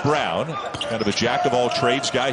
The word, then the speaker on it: Braun: Again, looks like Braun, spelled like Braun, but sounds like Brown.